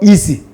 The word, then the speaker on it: easy: When you have letter S preceded by long vowel E or preceded by diphthong, then you are going to realize the letter S as Z. So this one is a easy, easy, easy.